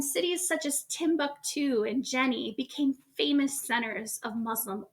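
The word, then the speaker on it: Djenné: city of Jenny again the city is pronounced Jenny the D is silent and one of the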